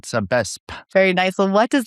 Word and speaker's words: Sabesp: It's Sabesp. So you have to say the P at the end like that. Sabesp.